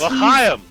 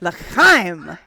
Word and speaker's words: L'chaim: L'chaim. No, that's not how you say it. L'chaim.